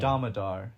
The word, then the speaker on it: Damodar: Damodar, is how it's pronounced.